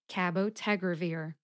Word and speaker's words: cabotegravir: located in cabotagravir it's a very slight difference Ted gets the most emphasis Ka gets the second most emphasis cabotegravir can you hear it Cabo tegravir how did